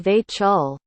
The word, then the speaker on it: Vachel: Lindsay 1879 to 1931 bachelors pronounced Vachel that is it rhymes with Rachel the Eagle that is